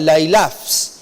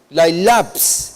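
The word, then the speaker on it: λαῖλαψ: Lailaps, esa es la idea. El sonido de esta palabra, la pronunciación de esta palabra, es como que reduplica el significado de este término.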